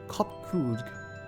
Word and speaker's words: Kopkrudg: As for nomenclature to address my individual person, I believe it will be pronounced Kopkrudg.